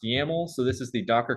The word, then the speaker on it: YAML: up the project uh this extension over here yml is pronounced yaml so this is the